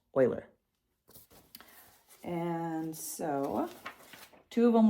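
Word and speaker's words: Euler: on these and again that's pronounced Oiler and so two of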